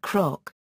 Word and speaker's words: cnoc: The word cnoc, hill, would therefore be pronounced croc.